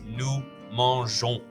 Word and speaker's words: mangeons: This means you only really need to learn one new pronunciation, and that's nous mangeons, which sounds like on at the end.